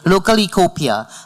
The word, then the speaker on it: Localecopia: Localecopia, and director of the Green Team at the Breakers Palm Beach.